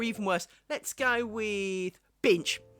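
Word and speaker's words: Binche: worse let's go with binch I still don't know how you pronounce it but I call it binch b i n c h e binch right I think it's bnch but whatever right cuz instead of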